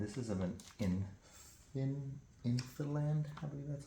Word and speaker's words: INFILAND: plastic see-through and this is of an inin infiland have that's how it's pronounce there it is right there I'll put